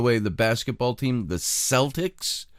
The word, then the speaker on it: Celtics: the basketball team the Celtics I don't know why they used the name Celtic and pronounce it with an S sound it's just a pet